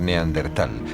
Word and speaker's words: Neandertal: A lo largo de los años el nombre se escribió y pronunció de diversas maneras, en razón de su origen alemán, si bien hoy en día se tiende a aceptar Neandertal, prescindiendo de la H que seguía a la T.